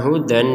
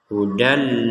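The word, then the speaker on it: هُدًى: Hudal lil muttaqin, dibaca hudal. Sekali lagi dibaca hudal, jangan dibaca hudan.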